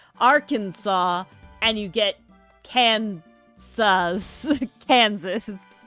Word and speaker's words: Arkansas: Um, well, Arkansas stuck with the original French.